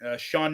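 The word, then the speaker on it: Sioned: We have his daughter, Shawned is how her name is pronounced, even though that's not how it's spelled because Welsh is an insane language that doesn't make sense.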